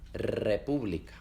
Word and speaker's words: república: república.